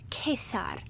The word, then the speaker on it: Caesar: season apprentices Okay so Caesar would be pronounced as kesar and cerebral pronounces and